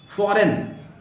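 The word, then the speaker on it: foreign: फॉरेन, आप देख रहे हैं यहां जी नहीं पढ़ा जाएगा, एन तो पढ़ा जा रहा है, सारे वर्ड्स पढ़े जा रहे हैं, लेकिन जी आपको ड्रॉप करना, जी नहीं पढ़ना।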